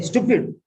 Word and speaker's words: stupid: Stew, not stupid. People don't know how to pronounce it. They think that is beauty of even that word itself is stylishly pronounced. Stupid, like student.